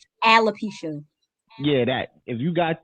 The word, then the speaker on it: alopecia: hair's falling out you've got aquapecia i think i'm saying it right no no what is aquaponics alopecia yeah that if you